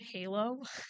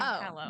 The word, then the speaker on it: Hallow: like tripped up because he's like, "Isn't it Halo?" I'm like, "How spelled?" It is spelled like Halo, but it's but wait everybody that refers to it like including the people who speak on it say hello.